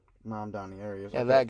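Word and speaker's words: Mamdani: How do you spell that? Zor Han. It's right here. Zor Zoron. Mom Donnie. Mam Donnie.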